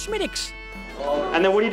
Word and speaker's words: Smithwick's: Yes, it looks like Smithwick's, but it's actually pronounced Smithwick's.